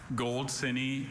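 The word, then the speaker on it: goldsinny: Gold cine is of unknown origin.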